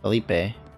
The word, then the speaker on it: Felipe: his building the postman uh felipe apparently i pronounced the wrong last episode called him philip so actually kind of